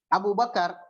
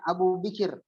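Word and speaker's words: Abu Bakr: Nah, Abu Bakar itu sebenarnya bacanya Abu Bikir. Abu Bikir.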